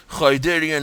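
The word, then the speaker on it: Khaydarin: have the K kadarian KH is pronounced as like German so karian amulet being re being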